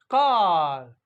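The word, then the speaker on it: car: ए आर का but British English में यह जो आर है इसको प्रोनाउंस नहीं किया जाएगा यानी सी ए आर का सी ए आर कार तो इसी तरह से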